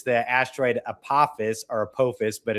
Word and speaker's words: Apophis: It's the asteroid Apophis, but it's really Apophis, in its proper pronunciation, to come by on April 13th of 2029, and then also secondarily to come back around in 2032.